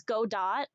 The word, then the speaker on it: Godot: Yeah, that's how you pronounce Godot. Like Gal Gadot. Kal-El, no! Kal-El, no! You thought it was Godot? Yeah, no, it's Godot.